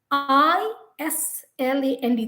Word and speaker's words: island: silent letters so ireland i s l a nd the s has no importance it has no relevance but yet we use